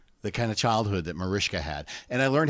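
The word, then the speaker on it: Mariska: And it's surprising the kind of childhood that Marishka had.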